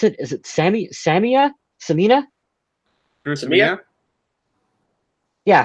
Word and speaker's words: Samia: We got some love for Herb Smith, Madison, and how do you pronounce it? Is it Samia? Drew Samia? Yeah, Samia.